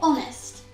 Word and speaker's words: honest: It might actually be helpful for you to remember that for all words that have a silent H at the beginning, then we use an. For example, honorable or honest.